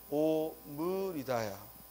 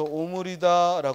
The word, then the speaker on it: 오므리다: 자 오므리다 오물 이다야 오므리다 따라서 오므리다 해야지 이걸 자꾸 오므리다 해서는 안 되겠다 또 잠그다 잠그다 잠그다 자꾸 잠그다 잠구다 하면 안 되겠다 또 물에 담구다 담그다 담그다 담그다가 아니라 담그다 또 이을 치루다 치르다 치르다 그래서 이런 말들 우리가 의로 의로 발음해야 되는데 자꾸 원순 몸 우로 잘못 발음하고 표기하는 걸 조심하자이 말이에요 그래 잠그다 담그다 치르다